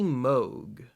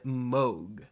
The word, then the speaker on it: Moog: And also, I should note that this album is kind of banking on you mispronouncing Moog. For example, one of the tracks here is called In a Happy Moog, as opposed to Mood.